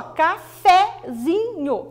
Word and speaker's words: cafezinho: E cafezinho, professor, ó, cafezinho, não. Café, a sílaba mais forte é fé, mas quando ele passa para cafezinho, a sílaba mais forte é no zi, café, zi.